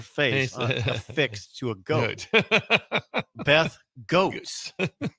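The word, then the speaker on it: Goetz: Called her Beth Goats. Beth Goats. It's spelled G O E T Z. I don't know Beth Gats very well. I I haven't heard her name out loud.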